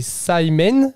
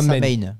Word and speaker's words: Samhain: Donc ça se prononce, désolé pour la prononciation, c'est Samhain ou Samhain. Samhain.